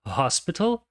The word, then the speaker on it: hospital: there a Hospital nearby a palavra Hospital começa com a letra h porém o h não é mudo ele tem o som característico de H que é o h portanto é um som